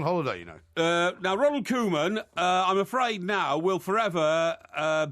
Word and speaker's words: Koeman: Koeman is how you pronounce it. Koeman.